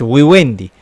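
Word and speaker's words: vivendi: o modus Wi wendi no digo es Wi wendi no porque en el latín clásico la v se pronunciaba como u ahora bien Qué significa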